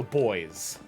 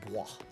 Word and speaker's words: Bois: It's French, it's supposed to be pronounced Bois. But I've been a millennial long enough to know that his name is Boys.